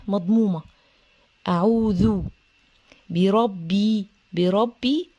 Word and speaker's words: بربي: اعوذ اعوذ اعوذ بربي بربي الباء مكسوره ومشدده عن نطقها